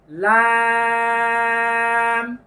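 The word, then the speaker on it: ل: হরফটির নাম হলো লাম জিহ্বার আগার কিনারা তারপর উপরের দাঁতের মা সঙ্গে লাগিয়ে লাম আয়না দেখে দেখে বলুন লাম তারপরের হরফটি লক্ষ্য করুন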